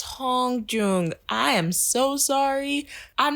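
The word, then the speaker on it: Hongjoong: that but still so the leader's name i think it's pronounced hong-joo oh yeah i can't even pronounce her now hong-joong it's the double oh that gets me so you're gonna hear me say hong-jong a lot but i think it's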